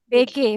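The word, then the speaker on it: 베개: BG, bacanya BG aja. Aja Mbak. Jangan AE. Walaupun romanisasinya AE ya.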